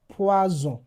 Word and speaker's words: poison: Because S is between E and O. Another example is poison. Exactly. So, let me go over it again. S when used in the beginning of a word or when it is doubled, that's SS, would give the sound S. And when it's When S find itself between two vowels, it gives the sound Z.